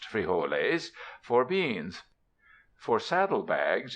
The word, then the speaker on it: frijoles: In the camp supplies will be spuds for potatoes, and quite likely frijoles (pronounced frijoles) for beans.